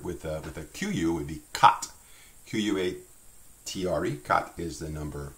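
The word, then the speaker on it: quatre: Again, that goes back to that idea that we don't tend to pronounce the little E sound. So you have cat.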